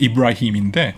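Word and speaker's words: إبراهيم: 저 아랍어 발음은 이브라힘인데 예.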